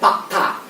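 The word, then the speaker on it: Pak Da: Tulisannya da ya, tapi dibacanya ta ya. Pakta.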